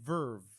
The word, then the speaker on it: VRV: And there's also another platform called VRV or Verve, I think is literally how they pronounce it.